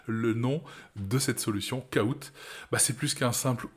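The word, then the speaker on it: Kahoot!: tout ça c'est le nom de cette solution koout bah c'est plus qu'un simple outil de quiz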